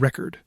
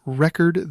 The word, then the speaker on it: record: Take the word record. It's record the noun, but record the verb. If you stress the wrong part in a sentence, it gets super confusing.